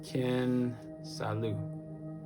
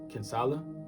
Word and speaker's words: Kinsala: I pronounced it weird. Ken Salu. What was you pronouncing? Her name. Oh. Ken Salu. Kinsala. Kinsala. Oh, Kinsala. Gotcha. I don't know why I keep saying Lou.